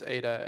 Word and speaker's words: Ada: Is it not pronounced Ada? It's Ada, and it's from doing her puzzle.